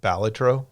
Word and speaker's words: Balatro: But I think I did hear somebody call it Balatro, like you're pronouncing it, and saying that that's the Latin pronunciation.